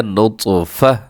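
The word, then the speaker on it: نطفة: تا دو زیر تن، نطفتن، اگر وقف کریں گے ایسی لفظ پر تو یہ پڑھا جائے گا نطفہ، یعنی تا کو ہم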